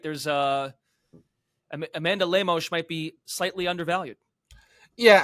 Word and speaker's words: Lemos: is it it's it's I believe it's lemosh it's you know it's the Brazilian pronunciation so throw a little Portuguese uh heat on there sorry Amanda I'm trying